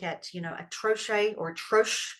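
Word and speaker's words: troche: you know atoche or trro sometimes it's pronounced as that t r o c h e and it's um a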